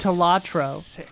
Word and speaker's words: Balatro: I think it's pronounced like, Talatro.